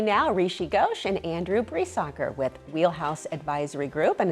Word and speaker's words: Briesacher: So my name's, first of all, Andrew Breesacker, and if you can see, it's pronounced nothing like it's spelled. So it's pronounced Bree like the cheese, soccer like the sport.